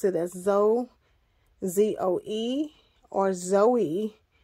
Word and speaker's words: Zoey: as though z-o-e or Zoe I pronounce it as Zoe and I spell it z o e y so she is Zoe